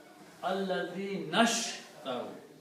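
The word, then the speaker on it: الذين اشتروا: So when you read this together, Allazina and Ishtaru, so you do not pronounce this alif in the middle, you pronounce Allazinashtaru.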